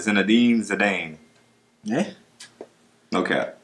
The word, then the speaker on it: Zinedine: It is pronounced it's pronounced Zinedine.